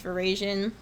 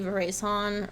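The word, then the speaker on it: véraison: be on your quiz veran is how we pronounce it in the United States um in France they might say verason or something like that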